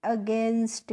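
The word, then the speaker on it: against: तो देखिए इसको हम पढ़ते हैं फ्रेंड्स अगेंस्ट।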